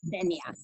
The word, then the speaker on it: Denia: It's Denia, as if there were an accent on the E.